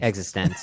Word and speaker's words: eXistenZ: Existenz, yeah. That's how they say it in the movie.